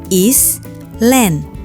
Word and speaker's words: island: Kalau lihat hurufnya, pasti mikir is, land. Tapi ternyata dibaca island.